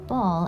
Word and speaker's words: Baal: that the electoral archon ball has passed okay you pronounce it ball yes the truth of the matter